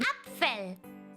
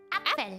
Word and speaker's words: Apfel: Apfel. Apfel.